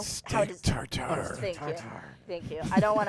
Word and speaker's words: tartare: Tartar? No. How No? how Steak does tartare. Thank you. I don't want to mispronounce it in their colloquialism.